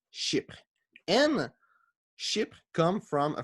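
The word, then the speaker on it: chypre: think in greece well in french it's ship and ship come from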